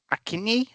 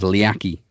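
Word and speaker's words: Leakee: I know it, but I just can't pronounce it. Is it Akini or something like that? Yeah, it is questionable pronunciation. I'll give you another shot. Oh, for fuck's sake. Akini? Yeah, it was Liaki.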